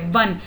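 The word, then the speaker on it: one: एंड 1 rupee coin में spelling O से शुरू हो रही है बट प्रोनाउंसिएशन व है, वन, इसलिए इसके पहले हम ए लगाते हैं.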